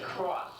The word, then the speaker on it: Cross: anounce their last name their name is cross that's Ross with a c in front of it and I'm told for